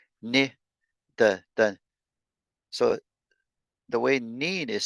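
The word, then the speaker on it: niin: Neen is myself.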